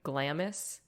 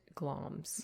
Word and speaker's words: Glamis: It's spelled to look like Glamis. It's like Glamis. Okay. But apparently we pronounce it Glamis.